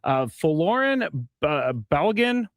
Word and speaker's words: Folarin Balogun: And I wanted to ask you, and I'm going to possibly mispronounce his name because I'm not great with it, but Folarin Balogun.